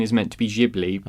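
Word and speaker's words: Ghibli: I always pronounce Studio gibli but said I know some people say Studio gibl but I believe the pronunciation is meant to be jibli purely because it comes from an Italian word I can't remember the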